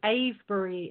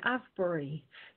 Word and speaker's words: Avebury: dot Co UK but I love the way Americans say Asbury so I'm going to say the a very experienced dot co uk that's a v e b u ry the a for experienced